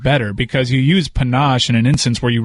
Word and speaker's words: panache: was on PTI I called it instead of panache Panna chay they still make fun of me there's a